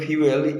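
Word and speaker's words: fuel: অ্যাড ফিউয়েল টু the flame, ফিউয়েল মানে ফুয়েল বলে অনেকেই, সেই আগুনে ফুয়েল ঢাকা মানে সে ঘি দেওয়া, আরও বেশি ফিউয়েল, আসলে উচ্চারণ হবে ফিউয়েল।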